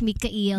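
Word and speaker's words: Mikhail: Ang pronunciation niya is Mikael. Mikael Red.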